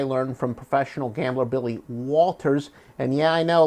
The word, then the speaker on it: Walters: I guess some people were saying I wasn't pronouncing the L.